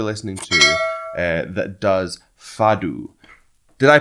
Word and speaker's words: fado: a portuguese person and they sent me right and said it's pronounced like fadou so i hope i'm saying